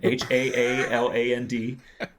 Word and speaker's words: Haaland: And I was like, there's this dude named Holland, and I can remember that because it's the name of a country. His name is Holland, Haaland. So it's spelled differently.